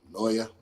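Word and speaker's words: Naoya: Real quick, then I want to congratulate Inoue, Naya. Was it Naya? How you say his name? Noya.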